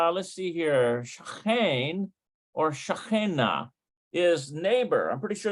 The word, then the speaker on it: שכן: Shachen or shachena is neighbor. I'm pretty sure that's how you pronounce it, shachen.